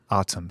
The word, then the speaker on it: ATUM: How do you pronounce? ATUM. ATUM.